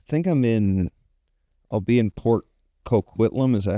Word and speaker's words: Coquitlam: And I think I'll be in Port Coquitlam. Is that how you say it? Coquitlam?